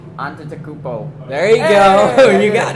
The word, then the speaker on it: Antetokounmpo: Giannis, still don't want to pronounce his name. Antetokounmpo. There you go. You got it. Giannis Just do it like Shaq does it. Antetokounmpo.